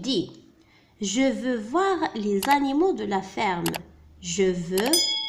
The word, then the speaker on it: animaux: الآن الكلمتين هما animaux. animaux. هنا mot M A U mot، لأن الحرف A والحرف U ينطقان O.